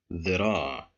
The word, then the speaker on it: ذراع: ذراع ذراع. Here we have the letter dal controlled by kasra, so that's why we pronounce it with a short vowel, the ذراع.